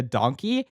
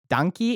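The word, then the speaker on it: dankie: Donkey is spelled D-A-N-K-I-E. I think pretty similar to the Dutch word danke, which makes sense because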